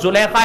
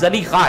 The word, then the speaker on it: زلیخا: بعض کہتے ہیں ان کے نام کا تلفظ زلیخا ہے، بعض نے لکھا زلیخا نہیں زلیخا ہے.